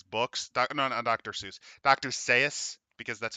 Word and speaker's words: Seuss: to open his books on Dr Seuss Dr Seuss because that's how you're supposed to say his